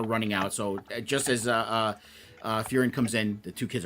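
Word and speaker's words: Faerûn: How do you pronounce it? Faerun? Faerun?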